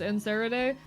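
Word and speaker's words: Nereid: It's pronounced Nerid.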